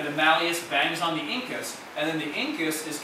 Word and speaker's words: incus: against the incus uh incus kind of like one of my favorite body parts because it's like the only thing that rhymes with like Pinkus at least in the English language um so so that